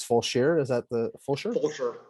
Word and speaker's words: Fulshear: when i come out and again it's it's pronounced dozier's and then it's it's full sheer is that the full shirt okay yeah and